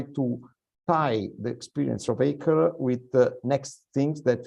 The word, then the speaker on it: ACRE: As you can notice, Giulio, I pronounce ACRE the French way.